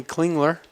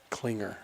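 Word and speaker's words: Klingler: help you out here coach the L is silent at the end of Klinger clinger glance a clinger cling alerts it's a common mistake clean as a common mistake the L is silent Klinger hey you're teaching me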